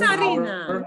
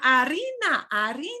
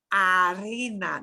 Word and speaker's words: harina: Y recuerden ustedes, se pronuncia harina, no es harina, no, harina, la H, the H. No se pronuncia la H. It's spelled with an H, but we don't pronounce it.